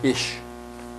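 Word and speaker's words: Ix: Next is jaguar, Ish, I-X, to pronounce it.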